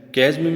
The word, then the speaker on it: chasm: Chasm means chasm. The pronunciation of this word chasm, C H A S M.